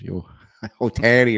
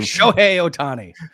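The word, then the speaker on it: Shohei Ohtani: There is some quote like he's basically making what Yot Yotani whatever is Yo Otani whatever you say his name show Otani is making like every two minutes of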